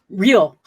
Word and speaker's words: Leal: For those of you who are listening, his name is, I say his name is Leal.